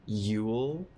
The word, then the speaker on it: Yeule: It's this song called Evangelic Girl is a Gun by an artist named, I want to say their name is pronounced Yule. It's spelled Yeule.